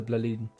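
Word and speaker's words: Blåliden: I believe that's how it's pronounced, the Blaliden. So someone who speaks Swedish hit me up and said, "Yep, it's the Blaliden."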